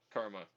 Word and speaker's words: CCRMA: and Acoustics at Stanford, known as CCRMA, pronounced Karma. Insiders joke that the C is silent.